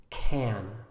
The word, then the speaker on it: can: more complicated than that the word can actually has two pronunciations the first one we call the strong pronunciation it sounds like this can the second one the